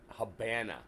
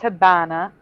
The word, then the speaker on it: Habana: Havana was the Spanish word pronounced Habana. It was pronounced Habana because the V sounds like a B in Spanish.